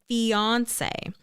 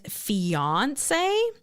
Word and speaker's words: fiancé: The word fiancé has 3 acceptable pronunciations in English according to Webster, with the stress on the first, second, and final syllable.